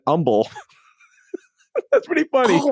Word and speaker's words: Humble: CPL Grammar on Reddit says, "A petty gripe for them is how we pronounce the H in Houston, but it disappears in Umble."